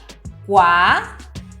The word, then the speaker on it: kua: qua cu a você deve estar se perguntando qual é a diferença entre cada uma delas vejamos qua com pronúncia oral significa buraco qua qua qua com